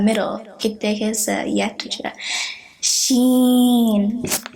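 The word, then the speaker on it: شين: Sheen. First there's the sh sound, and then the ya sound, and the noon sound.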